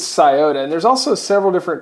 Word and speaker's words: Sciota: to learn big scota I've heard it pronounced scote skyote all kinds of different ways but I think it's scota and there's also several